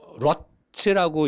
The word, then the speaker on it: ROT: 근데 한국 차, 일본 차, 미국 차가 쓰는 미션 오일, 노 사장이 파는 노보스 글라체 미션 오일 빨간 거, 러트라고 읽으면 돼요. 러트라고 쓰면 돼.